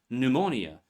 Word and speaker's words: pneumonia: Silent P appears before S. words like psalm, psyche, psychology. Also in Greek medical prefixes like pneumonia, pneumatic and in irregular words like raspberry, receipt, pterodactyl. Most come from Greek or French spellings.